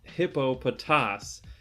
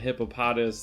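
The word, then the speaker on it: Hippopotas: so anyways uh about the pronunciation it is pronounced hippo potass and i've been pronouncing it hippopotamus this whole time and i'm going to link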